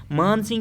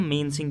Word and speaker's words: मान सिंह: कह सकते हो या मेन सिंह भी कह सकते हो, ये मतलब प्रोनाउंसिएशन आपकी है, आप किस तरीके से मान सिंह ही पढ़ोगे तो that will be the best.